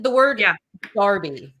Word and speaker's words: Derby: like the word yeah Darby how would you spell Darby oh god oh it's a trick question isn't that dirt probably d-e-r-b-y again yeah there's a town here called Darby but it's spelled Derby